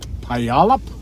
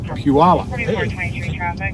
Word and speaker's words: Puyallup: Yes, I can't pronounce the name of the city though. Puyallup? Puyallup.